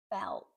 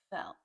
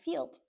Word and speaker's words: felt: This is be careful with that pronunciation. Feel. The past simple. Felt. Felt. It's not field.